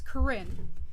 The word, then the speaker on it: Karin: my name wrong because it's uh it's karin which is no one ever thinks that that's what it is but that's what it